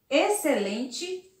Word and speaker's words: excelente: encontramos o x com som de dois ésses observe lá exceto excelente exceção e excesso e observe aqui que eu retiro o x e eu coloco os dois ésses também não vai mudar a pronúncia da palavra e eu vou conseguir ler espeço excelente esses são e esperto mas a grafia estará errada porque essas palavras são escritas com x mas tem o som de ss vamos ver